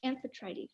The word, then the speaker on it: Amphitrite: Amphitrite? Yeah. Is that how you say it? Amphitrite? Yeah, we can You know spell what? You know what? I'll just defer to X4. Yeah, Amphitrite final.